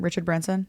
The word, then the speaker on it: Richard Branson: Richard Branson?